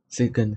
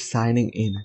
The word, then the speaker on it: signing: But it's signing in. This is why listening is so important, because English is not a phonetic language, so you cannot so a lot of words you cannot pronounce them right if you are not listening to them. So listening is very important in English. It's called signing in.